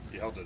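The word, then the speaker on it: Hjalte: Yelda, that's how you pronounce it. Yeah, Yelda. Yeah, it's a lot easier than it looks, right? Yeah. There's an H in there.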